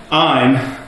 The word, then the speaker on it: Ayn Rand: Probably the correct pronunciation is Ayn.